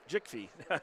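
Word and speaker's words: Djikfee: Well, the D is silent, so it's just Jickfee.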